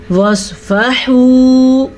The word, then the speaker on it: واصفحوا: فا پیش و فو، واصفحو، ہا پیش و حو. صاد کو پر پڑھیں گے، عین کے تلفظ کا دھیان رکھیں گے اور ہا کو بھی دھیان سے پڑھیں گے.